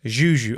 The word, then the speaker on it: Juju: Hi, I'm Juju. Wait, let me can't help it. talking about. Is it Juju or Juju? Juju.